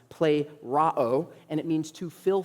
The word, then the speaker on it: plerao: It's a word that is pronounced plerao, and it means to fill fully or filled to the top, filled to the brim.